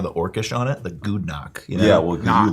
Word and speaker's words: Gudnak: They are the creators of Gudnak. How do you say that? Gudnak. Gudnak. Bad name. How do you guys say it? Actually, I know I was in the car earlier with Ian. He said Gudnak.